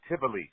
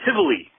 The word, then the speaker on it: Tivoli: It's pronounced the Tivoli Theater. Tivoli. Thank you.